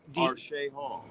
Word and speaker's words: Arshay Hall: Oh, okay, so Arshay Hall. Arshay Hall. Yeah. Spell that for me again. Uh-huh. Arshay, Arshay, Hall, Hall, like a city hall.